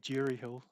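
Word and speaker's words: Durie Hill: just in terms of the pronunciation of the club it's uh jury Hill I just wanted to correct you on that give jury Hill not durry um jury Hill Thank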